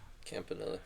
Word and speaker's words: Campanelli: Um James Campanelli, I believe is how you pronounce his last name. Defensive coordinator. Campanelli.